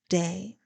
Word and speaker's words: DA: Health and Beauty recovery Network my name is pronounced day it is spelled daa daa are my initials